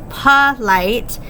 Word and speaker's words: polite: how you say this the way that I say it or here it is polite so that o would be a schwa making that an open syllable exception because that's not a long sound if you said in